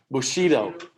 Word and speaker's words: bushido: we got that one in your nose then bushido yeah there you go bushido what code of behavior let's see we just went through that one that's bushido which title means supreme general of the emperor's